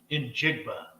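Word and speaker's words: Njigba: As much as I would like the wide receiver, Jackson Smith and Jima, I think is his name. Is that how you pronounce it? In Jigba.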